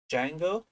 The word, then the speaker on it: Django: based on python called Django um I know there is a d don't pronounce that it's a Spanish word